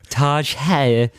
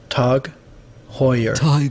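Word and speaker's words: TAG Heuer: what about you i i used to pronounce it like the taj mahal taj wrong with that that's what i'd go for let's uh let's see what the real one is tug hoyer tug hoyer but you've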